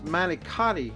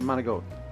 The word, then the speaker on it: manicotti: goat with now uh you might call this manicotti if you're a gringo and you don't know any italian but it's called mona goat it's pronounced mona goat anyway i told my uh grandson that he